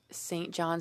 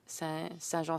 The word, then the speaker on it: Saint John: We pronounce my writing Saint John Saint Croix and not Saint Jean Saint Croix.